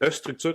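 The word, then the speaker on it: eStruxture: canadiens d'entreprises comme Micrologic, X-Structure, qui est dur à prononcer, mais qui est E-Structure avec un X au lieu du S, qui était montréalaise, qui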